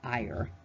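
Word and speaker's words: Iyr: The Hebrew word would be I-Y-R. I believe it's pronounced Iyer.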